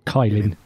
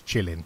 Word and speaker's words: Kylin: The flavors who are participating in this round of pre-releases are Kubuntu, Lubuntu, Ubuntu, if we decide that's pronounced Chilin, or Kylin. It's Chilin. Chilin.